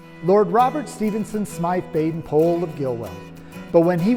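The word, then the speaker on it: Baden-Powell: lord robert stevenson smythe baden pole of gilwell but when he was around scouts he was simply bp and by the way the correct pronunciation of his name is pole like in whole not powell like in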